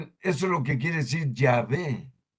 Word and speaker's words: Yahvé: Y sí, miren, eso es lo que quiere decir Yahvé. O como lo mal pronuncian los protestantes, Jehová.